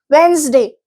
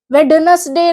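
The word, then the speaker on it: Wednesday: वेंसडे, वेडनेसडे नहीं होता, वेंसडे होता है, डी बोला नहीं जाता।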